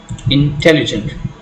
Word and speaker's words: intelligent: The primary accent is usually on the second syllable in 4-syllable words. For example, intelligent. A 4-syllable word, intelligent.